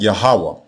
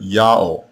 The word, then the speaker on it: Yaho: The Assyrians did not hear an H sound in this name. The Assyrians also did not hear the sound W. The letter Wa in this name is not the consonant, it is the vowel marker, and the vowel that was heard was the long O vowel.